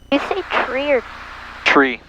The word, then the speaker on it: tree: one nine take care tree like a tree grows in the yard that's how you're supposed